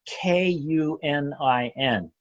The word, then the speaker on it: Kunin: his name is spelled the little peculiar it's k un i n pronounced Kunin he had been a board-certified psychiatrist no